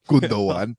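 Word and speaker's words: Gündoğan: you want to say it correctly well okay gundo one yeah your fingerprints are on all four goals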